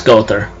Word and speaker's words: Gowther: find the armored beast, which is Gowther, or Gowther, how I pronounce it, but it's Gowther.